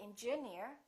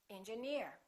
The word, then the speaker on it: engineer: right here's another rule if the word ends with e e r we stress the suffix for example pioneer volunteer engineer we don't say engineer we say engineer another rule if the